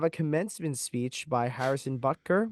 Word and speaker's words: Butker: Then next up, we have a commencement speech by Harrison Butker, right? Is that how you say his name? That's how you say All it. right, yeah, Harrison Butker.